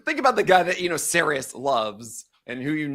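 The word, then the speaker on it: Sarris: I'm like, is it Saris? He goes, yeah, you've been mispronouncing my name the entire time.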